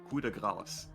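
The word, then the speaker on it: coup de grâce: Oh, because okay, so the actual pronunciation, as we would say it in French, would be coup de grace. Okay. So very similar.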